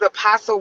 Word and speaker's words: apostle: And it is a it is apostle with a silent t not a hard t.